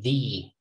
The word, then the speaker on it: the: uh but before vowels we say thee we talked about this